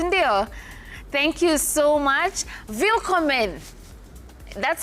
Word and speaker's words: Willkommen: Willkommen.